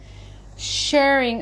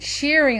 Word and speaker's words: shirring: do a live video i said shearing elastic and it was corrected to say that it should be pronounced sharing so i'm going to